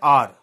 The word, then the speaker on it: hour: Okay, he waited for an hour. So here here also h is silent.